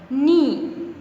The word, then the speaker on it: knee: Knee. K, देखिए के हम लिखते तो है बट we don't pronounce it. ठीक है, हम प्रोनाउंस नहीं करते, हम इसकी साउंड एन से स्टार्ट करते हैं.